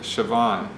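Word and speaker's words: Siobhan: say that anyway and they say it sioban with a V so it's a very interesting pronunciation yeah so they sponsored it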